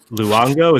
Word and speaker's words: Luongo: Today on the show we have Matt Luongo. Is that correct? Is that the correct pronunciation?